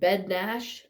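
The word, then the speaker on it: Bednář: And then their goalies, Jan Bednash, and that's not how it's pronounced. It's how it's pronounced, but it's not how it's spelled. His last name's Bednar.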